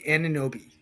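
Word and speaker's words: Anunoby: OG Aninoi, Indiana.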